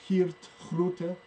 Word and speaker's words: Geert Groote: able to find him, it's because in Dutch, G's are pronounced like thick H's.